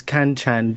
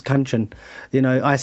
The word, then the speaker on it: Kanchan: I got told off in the past for mispronouncing, Indian names, like my landlady's Kanchan, but it's Kanchan. Kanchan, yeah. I put a bit of an English inflection on it where it shouldn't be.